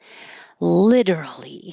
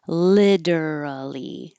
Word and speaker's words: literally: Literally is the most common pronunciation for Americans. Literally, literally. But it can also be shortened and drop a syllable and say literally, literally.